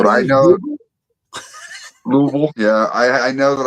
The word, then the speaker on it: Louisville: You could put Oh, you have to say it like you got a w in your mouth. Louisville.